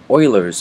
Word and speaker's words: Euler: them which is called or referred to as Oilers formula here's how you spell it you can uh look up more on